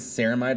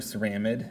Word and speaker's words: ceramide: little bit its name the simplest one is ceramide or ceramic I've heard it pronounced both ways this is where it's